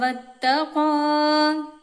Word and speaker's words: واتقى: ഇവിടെ ഒന്ന് ത്വാഉമാണ്, ഒന്ന് വത്തഖാ താഉമാണ്. അപ്പൊ ത്വാഉം താഉം രണ്ട് ഉച്ചാരണം രണ്ടും രണ്ടാണ്. അപ്പൊ അത് മാറിപ്പോവരുത്. പിന്നെ പുള്ളിയുള്ള ഖാഫ്, പിന്നെ സാക്കിനായ നൂനിന് ശേഷം അംസ് വന്നിട്ടുണ്ട്. ഇവിടെ ഇൽഹാറാണ് നിയമം, അതായത് വെളിവാക്കിയിട്ട് തന്നെ ഉച്ചരിക്കണം. فأما من أعطى واتقى.